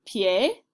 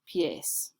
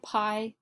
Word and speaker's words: pie: El pie, los pies. So it looks like pie, but it's actually pronounced pie.